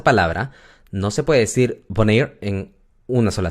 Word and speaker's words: wanneer: Eso indica que la A es larga, la pronunciación es A. ¿Ok? Bueno, waar significa dónde. Luego tenemos wanneer.